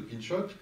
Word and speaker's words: Pinchot: Il va être très très ami avec un dénommé Gifford Pinchot, si on prononce à la française, ou Pinchot, qui est un Américain,